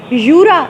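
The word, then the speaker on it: Jura: English में कहते हैं जूरा, लेकिन फ्रेंच में यूरा इसकी प्रोनाउंसिएशन है।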